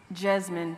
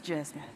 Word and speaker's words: Jesmyn: it's Jesmyn, even though it's not spelled with a Z, but it's Jesmyn.